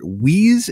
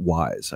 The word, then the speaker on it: Weis: authors, Tracy Hickman and Margaret Weise, is it? Or is it Wise? I never remember. I always pronounced it with the I sound.